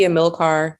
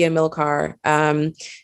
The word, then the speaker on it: Amilcar: Hi, I'm Amilcar. People pronounce my name. Hello? I feel like there's a little static on my end. No, we can hear you perfectly. Oh, okay. Amilcar, but it's not. It's Amilcar.